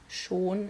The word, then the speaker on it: schon: all i got um it also means already like schon is how we pronounce it like already that means yeah yeah